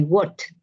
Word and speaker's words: worked: Entonces, como una T, como si es explosiva, ¿no? I worked. Sí, que suena como t, t, t. Esa es la pronunciación correcta.